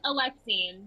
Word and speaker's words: Alexine: It's Alexine, but it's I fine. thought that's what I said. That's what I said. No, it's been mispronounced for like my whole life.